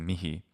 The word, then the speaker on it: mihi: So the issue is that the H is pronounced. You could say mi as a two-syllable word, mi, instead of mihi. But mi phonetically sounds identical to me anyway if we're pronouncing it without the H sound. So the H is there. To say it's completely silent is just false.